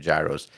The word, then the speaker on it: gyro: And So, I remember when the company for gyros was starting, I guess they were doing an ad campaign, and they decided to start calling it by the way you're supposed to pronounce it, which is gyro.